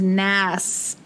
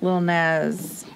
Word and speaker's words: Lil Nas: said that i haven't i thought it was nast because of nasty but still more of a z little nas and let me just